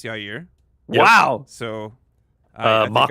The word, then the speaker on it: Yair: But while Chael says Yair, I know it's Yair.